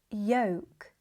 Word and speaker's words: yolk: Other examples of the silent L that are also mispronounced are salmon, yolk, and chalk. Although they are written with L and some speakers may pronounce the L, it's supposed to be silent.